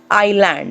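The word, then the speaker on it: island: ना पण होई सके आईलैंड इसका उच्चारण जो है लैंड नहीं है आईल है गुजराती और हिंदी दोनों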